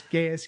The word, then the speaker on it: geas: Yeah, did you say geese spell? It's got multiple pronunciations. It's like Geas. It's Gaius, geese. I always go with geese.